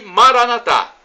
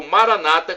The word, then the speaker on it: Maranatá: E Maranatá, como dizemos nós católicos, ou Maranata, como dizem nossos irmãos separados, os evangélicos ou protestantes.